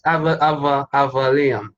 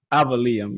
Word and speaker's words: Avaleum: say it so people learn it's like it's avaliam avalium yeah yeah it's like it it's one of